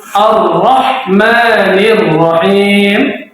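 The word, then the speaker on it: الرَّحْمَٰنِ الرَّحِيمِ: dengan bismillah tadi arrahmanirrahim huruf ro dibaca tkim ke arah tapi tidak boleh melebihi dari suara tasdidnya berarti kalau tasydid cuma dua dua R Ar Rah jangan Ar ahah Ar jangan tapi arah arrahmanirrahim Oke sampai itu jelas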